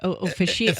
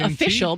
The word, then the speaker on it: officiant: I've actually been telling people this story, and I'm like, officiant. O-F-F-I-C-I-A-N-T. At first, I'm saying official, but that's not right.